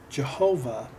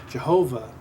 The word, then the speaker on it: Jehovah: the case of Jehovah the yode transliteration is being pronounced as a j character J okay and uh